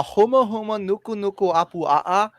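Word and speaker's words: humuhumunukunukuāpuaʻa: It's the huma huma nuku nuku apu a'a, and the Okay, that was huma- impressive. If that's actually the correct pronunciation.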